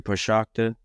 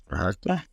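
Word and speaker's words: Procházka: Yuri Prochazka.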